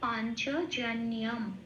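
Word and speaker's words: পাঞ্চজন্যম্: হয় সংস্কৃততে, সেই জন্য অনুস্বটা ময় হসন্ত হিসেবে বলতে হবে। সেই জন্য পাঞ্চজন্যম এটা হবে উচ্চারণ।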